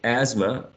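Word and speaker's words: asthma: second one exactly excellent so the sound inter voiceless is not pronounced when we say we don't say I mean some speakers or in general speakers don't say Asma Asma right because it's quite difficult so Asma tends to be the pronunciation what's the sound omitted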